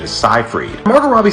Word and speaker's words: Seyfried: common for actresses like Amanda Seyfried whose real pronunciation is scifreed Margot Robbie said the only thing that bothered